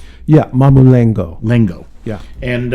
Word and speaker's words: Mamulengo: This is called, if I'm saying it right, Mamulenko. Yeah, Mamulengo.